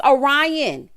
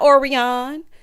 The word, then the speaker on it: Orion: She said, it's Orion. Okay, not Orion.